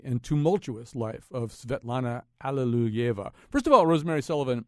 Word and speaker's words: Alliluyeva: First of all, Rosemary Sullivan, am I saying that last name correctly? Am I pronouncing that? Give me some help here. Yes, you are absolutely correctly. That's as close as an English speaker can get to the Russian.